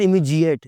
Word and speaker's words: immediate: इमीडिएट, फौरी, immediate, it's not immediate, it's immediate.